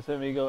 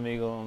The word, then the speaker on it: Omegle: I am Amigle and I not amigal the way you pronounce it.